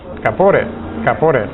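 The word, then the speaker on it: כפורת: Caporet, un acento en el o, caporet.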